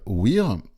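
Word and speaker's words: WHEERE: une technologie qui s'appelle WEAR, ça s'écrit comme le mot wear en anglais, ou W-H-E-R-E, sauf qu'il y a deux E au début, W-H-E-E-R-E.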